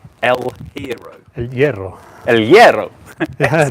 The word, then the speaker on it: El Hierro: I'm going to say El Hierro. El Hierro. El Hierro. Yeah, the H is not pronounced at all. El Hierro.